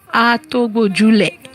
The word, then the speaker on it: Atogbojule: Because we are in Yoruba. Yeah. So we're saying Atogbojule. That's how we could, pronounce it.